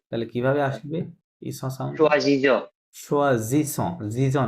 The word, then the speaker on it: choisissons: choisissons. সোয়াজিসন, জিজন না, কিন্তু double S থাকলে সবসময় স Okay, উচ্চারণ okay, হয়।